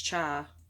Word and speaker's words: chai: how you say it i always struggle with how to say that i don't know if it's cha or kai but i'm pretty sure it's chai it might it might